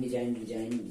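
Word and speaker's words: design: इसी तरह साइन, डिजाइन, बिनाइन सभी में रूल वही है कि जी के पहले आई और जी के तुरंत बाद एन नहीं होना चाहिए, नहीं तो जी साइलेंट हो जाएगा।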